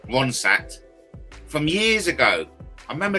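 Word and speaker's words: Ronstadt: I remember Linda Rossat from and I'm pronouncing it wrong. Ronsat from years ago.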